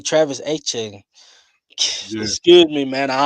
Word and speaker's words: Etienne: Um, I'm gonna say Travis Etienne.